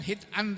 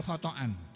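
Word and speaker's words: خطأ: Bukan hitan tapi khotan.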